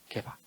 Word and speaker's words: 게바: 베드로의 아람어식, 히브리식 발음이 게바입니다. 게바.